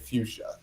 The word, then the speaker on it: Fuchsia: to spell it yes we pronounce it fuchsia like the color yeah yeah so for